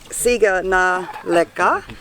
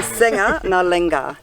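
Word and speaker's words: sega na leqa: The G is pronounced ng, and a Q is nga. So here it says siga na leka, but it's actually senga na lenga, which means no worries.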